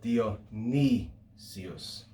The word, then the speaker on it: Dionysius: gives you is dionysius it's got an upsilon in that third to last syllable dio ni sius okay so there are